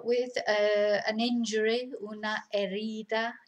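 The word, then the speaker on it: herida: a an injury una erida remember we don't pronounce the h so it's ereda and that's it so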